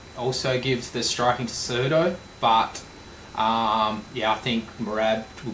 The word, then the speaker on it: Cejudo: Merab versus Cejudo. Good pronunciation there, buddy. No, Cejudo.